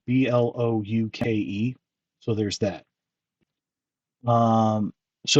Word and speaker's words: Blokees: Bad Toy Store, and they're the ones who are pronouncing it Blokees, Blouke.